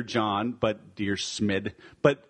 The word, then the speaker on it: Dyrsmid: we have today so it's Trent dear smid kind like Dear John but dear smid but it's not spelled